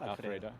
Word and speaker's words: Alfredo: Am I pronouncing it correctly? Yes, Alfredo.